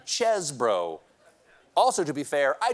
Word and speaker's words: Chesebro: mean Jail jail Kenneth cheese bro now to be fair cheese bro pronounces his name chesbro also to be fair